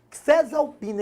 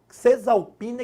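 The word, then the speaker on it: Caesalpinia: É Caesalpina equinata, Cesalpina equinata, porque se eu não me engano o A não é pronunciado, né? Cesalpina equinata é o nome científico.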